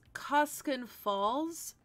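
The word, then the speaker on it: Koskun Falls: type it right uh it is pronounced koskinen falls during uh your upkeep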